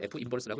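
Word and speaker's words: f⁻¹: 읽을 때도 f 인버스라고 읽어요. -1제곱이라고 있는게 아니라 f 뭐라고요? 인버스다.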